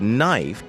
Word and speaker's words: knife: became silent for example the word knife was once pronounced NE after the shift silent K and I became AI as in knife our spelling however didn't